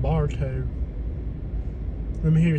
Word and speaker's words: Bartow: this is a gorgeous little town it's called Barto let me hear you say it properly Barto Barto Mar 800 turn left this is just